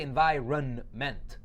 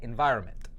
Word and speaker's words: environment: environment environment right and we don't say environ mint we just say environment so hoenn means to